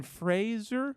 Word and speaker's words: Fraser: Fraser, I think. Fraser. And I'm not even sure I'm saying it right, but it is spelled Sorry. Fraser. Sorry, I've been Brendan. doing it this way for 32 years, man.